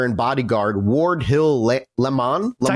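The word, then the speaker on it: Lamon: Lemon Lemon. It's actually lemon, weirdly. It is lemon. Okay. It's spelled Laymon, but it's Lemon.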